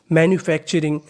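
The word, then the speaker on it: manufacturing: हैं एमन you menu आपको गौर करना है यहां पर लिखा है टीयू आर टीयू आर को हम लोग पढ़ते हैं चर कहने का मतलब अगर आपको इंग्लिश में कहीं पर टीयू आर लिखा मिले तो उसका उच्चारण करना है चर तो मीनिंग मेन्यू एफ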